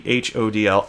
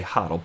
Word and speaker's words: HODL: not a real word, there's no right or wrong way to say it. It's not in the dictionary. And until it is one day, and I'm told how I'm supposed to pronounce it, I'm going to say HODL.